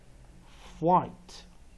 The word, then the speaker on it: flight: GH 不发音时，前面那个 I 就会拉成长母音。再一遍 Flight 啊 GH 不发音啊，所以我们 I 是用的什么 Long vowel again F-I-G-H-T Flight Long vowel I, silent GH, flight.